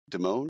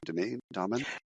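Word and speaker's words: Dimon: D I M O N Deone. Demon. Any why I didn't lead off with the story. I did not say his name. Diamond.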